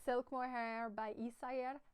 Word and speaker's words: Isager: It's Silk Mohair by Isayer. I recently learned you don't pronounce it Isager or something like that. You say Isayer.